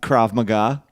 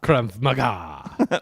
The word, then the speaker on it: Krav Maga: How is that pronounced? Krav Maga. Krav Maga.